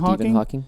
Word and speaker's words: Hawking: But am I ever going to be like Stephen Hawking? Stephen Hawking?